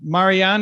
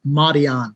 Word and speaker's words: Marianne: all right we got marianne in the house did i pronounce that okay it's uh mahdi on but yeah pretty good